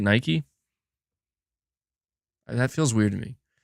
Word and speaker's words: Nike: plug themselves there it's it's Nike n it's Nike that's how you say it Nike that feels weird to